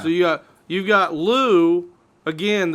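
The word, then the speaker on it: Lugh: you got you've got Lou again the GH is silent but but still it's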